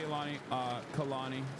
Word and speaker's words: Kalani: Anyway, but yeah, shouts out to Kalani, sorry. That's how you say her name. I apologize. I was saying it wrong.